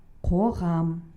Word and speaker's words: Қоғам: Давайте поработаем над произношением звука К. Он произносится твердо. Қоғам.